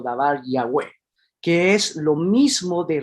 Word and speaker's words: Yahweh: inglés, porque recuerden que la vav en inglés va a sonar no como una V corta, sino como una doble V. Entonces va a sonar como Yahweh, Yahweh, Yahweh.